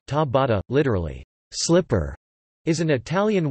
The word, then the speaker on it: Ciabatta: Ciabatta, Italian pronunciation, ta-bata, literally, slipper, is an